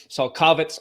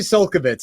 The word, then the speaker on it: Csolkovits: We had the wrong emphasis on the wrong syllable. Listen, I tried. We practiced before. I really tried hard. When the emphasis is on the wrong syllable, that happens. So it's actually Csolkovits, and I have to